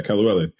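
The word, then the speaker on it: kelewele: per your recommendation, some Kelly-wele. How did I pronounce that? Yeah, you said it better. You said it better than me. Perfect. Yeah, Kelly-wele.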